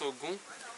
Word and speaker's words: Ogun: Here, for example, some pronounce Ogun, others Ogu. But it's the same.